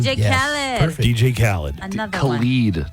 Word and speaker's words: Khaled: DJ Khaled.